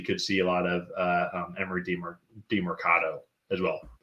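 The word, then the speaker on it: Emari Demercado: So potentially could see a lot of Emery DeMercado as well. Dermanicondo. No, you actually said it right the first time.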